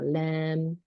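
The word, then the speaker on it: لام: lamb. 네, 이건 우리나라 말의 리을이라고 생각하시면 돼요. 네. 영어의 R과는 또 다릅니다. 이건 영어의 L이에요. L. 완전히 다 같지는 않지만, 네. 리을하고 L하고 비슷해요.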